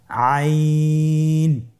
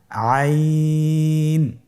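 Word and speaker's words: عين: আইন হরফটি উচ্চারণের সময় অবশ্যই তিন আলিফ টেনে পড়তে হবে। এখন আইন হরফটি বারিক হরফ। পাতলা করে পড়তে হবে। আপনার আমার সাথে বলুন আইন। আবার বলুন আইন আইন আর হরফটি কন্ঠনালীর মধ্যখান থেকে উচ্চারিত হয়।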